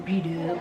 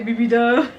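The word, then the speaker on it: B-Dubs: Yeah, some B-dub. I always say it wrong when I say BB-dub.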